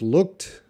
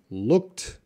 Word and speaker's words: looked: are you talking about you teeka how to pronounce looked looked as a T sound looked and look at